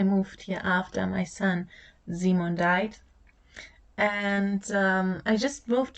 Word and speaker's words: Simon: This is where my son Simon was born, which might explain the pronunciation of his name, which would be Simon in English.